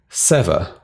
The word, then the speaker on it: Seva: It's SEVA, pronounced Sever. So as in SEH-VAH.